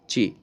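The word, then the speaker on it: ち: the Chart the chart that should be T but there is a problem that this is pronounced as Chi T so why this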